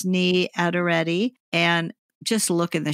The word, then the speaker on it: Niyi Adereti: I'll put all of this in the show notes so you can look it up, but it's Niyi Adereti. And just look in the show notes for how that's spelled.